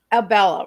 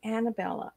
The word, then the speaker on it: Abella: like I was putting Annabella I don't know why a lot of people call her Annabella or um yeah they pronounce it lots of different ways but it's it's just real simple Abella it's aella but it's